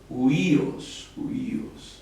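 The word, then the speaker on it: υἱός: Huíos, aquí. Huíos. Aquí se escribe Omicron, Ypsilon, iota, ¿verdad?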